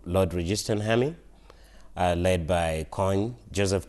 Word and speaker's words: Kony: resistant Haley led by coin Joseph coin and we're we here in America pronounce that Kony and at the beginning